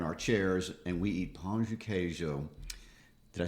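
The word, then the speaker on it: pão de queijo: or whatever in our chairs and we eat pancho cajo did i say that correctly you did okay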